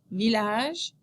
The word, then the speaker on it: village: The letters ILL are pronounced il in the following words: ville, village, mille, and l'île.